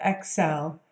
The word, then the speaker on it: Accel: spelled ACC e ow it sounds like Excel obviously but it's more you know like the root of the word accelerate and I believe that's